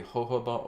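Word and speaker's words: jojoba: it will be basically hoba oil right that's J OJ o ba I believe that's how it's pronounced and uh filtered water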